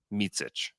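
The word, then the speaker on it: Micić: can you you just tell me how it's pronounced mitsich that's how he says it which did you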